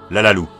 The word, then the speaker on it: Lalalou: nom de la demoiselle Lalalou. Plus exactement laalar d'après les écritures dans le générique mais prononcé à la japonaise.